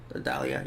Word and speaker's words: Idalia: Is that how you pronounce it? Idalia, yeah.